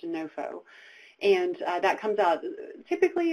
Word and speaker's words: NOFO: called the Notice of Funding Opportunity, or NOFO, pronounced NOFO.